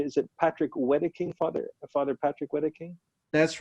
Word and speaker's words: Wedeking: And Brian, can you tell us, is it, I want to get the pronunciation, is it Patrick Wedeking, Father Patrick Wedeking? That's right, Father Patrick Wedeking from Shiprock, New Mexico.